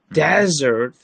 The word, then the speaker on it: desert: sorry yes and and be careful with the pronunciation it's not there is Desert and there is dessert yes dessert is a type of food you eat after meal yes desert is a hot place so it's desert not dessert desert desert